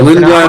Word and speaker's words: Lindblad: Yeah, Lindblad. And I'm pronouncing that the Scandinavian way.